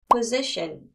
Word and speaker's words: position: position, position. 자, position 같은 경우는 발음이 약간 터지는 느낌이 좀 놔주셔야 돼요. position 하고 O 발음을 너무 세게 두게 되면 발음이 좀 어색하게 들려서 position, 느낌이 나야 됩니다.